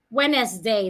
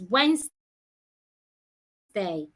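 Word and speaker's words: Wednesday: to say is challenge I should not say Wes day the right thing to say is W day among others so you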